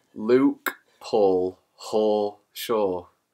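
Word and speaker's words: Hoare: His middle name is Haw. H-O-A-R-E, so it's not as bad. It still sounds like... But phonetically, it's still... And also, his surname is Shaw, so it's like Hawshaw.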